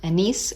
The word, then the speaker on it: anise: Yeah, I think it's um anise seed or anis seed depending on how you say it.